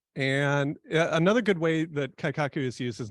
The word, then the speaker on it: Kaikaku: lean six segment practitioner so the word is kaikaku and you may understand the first uh syllable here Kai you may that may sound familiar Kaizen right so if you're